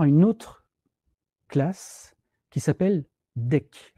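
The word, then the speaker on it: Deque: Par contre, vous allez voir une autre classe qui s'appelle DEC. Alors, il faut la prononcer DEC. Il y en a certains qui prononcent DEQ. C'est marqué dans la documentation à prononcer DEC.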